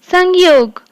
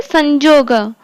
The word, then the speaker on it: संयोग: सेमती आ गोटे एग्जांपल, संयोग को हिंदी रे कौन उच्चारित करंती, संयोग, किंतु ओडिया रे संजोग।